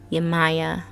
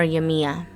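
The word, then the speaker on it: Yemayá: the african uh deity yamaya or yamiya pretty sure i said it right the first time yamaya in fact that might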